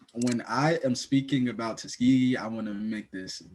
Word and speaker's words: Tuskegee: How do you pronounce it? Tuskegee.